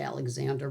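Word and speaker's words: Alexandre: And then for dessert, as it were, I still have my A2 Alexandra, well, they say Alexander, but it's spelled like dra.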